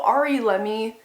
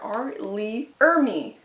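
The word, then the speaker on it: R. Lee Ermey: And also R.E. Lemmy? No, that can't be right. I said it earlier. R.Lee Ermey. No? What? It's Ermey? R.Lee Ermey. Okay, so I was saying it wrong earlier.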